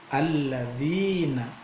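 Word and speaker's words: الَّذِينَ: Alladzina, ada ya mati setelah harokat kasroh, bacaannya mad tobi'i, panjangnya 2 ketuk. Alladzina, jangan panjang-panjang, jangan alladzina, bukan, tapi mad tobi'i hanya 2 ketuk.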